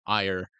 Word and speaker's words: Eir: air, pronunciation, like yeah, airy. right. The Norse pronunciation said it was pronounced ire, like fire without the Mm. F. But, Oh, like gotcha. like, the actual Japanese pronunciation is closer to air.